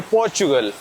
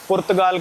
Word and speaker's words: पुर्तगाल: हैं पुर्तगाल या फिर पोर्चुगल, दोनों कहने आते हैं मेरे को। पोर्चुगल इंग्लिश में है, पुर्तगाल कहेंगे तो हम वो हिंदी हो जाता है, दोनों प्रोनाउंसिएशन सही हैं।